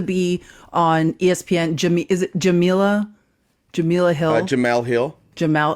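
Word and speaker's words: Jemele: Is it Jamila? Jamila Hill? Jamel Hill. Jamal. Is that how you say her name? Jamal.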